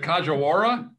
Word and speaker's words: Kajiwara: that you don't have to oh is it kajawara it is 18 years with aeg and staples